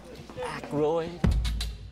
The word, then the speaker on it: Aykroyd: Chevy Chase, Gilda Radner, Dan, how the fuck do you pronounce this? Aykroyd.